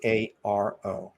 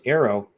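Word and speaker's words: AARO: a o now first Arrow it's good all right let's face it you know it's the only way to pronounce it it's not AO it's ER got the air in there all domain that means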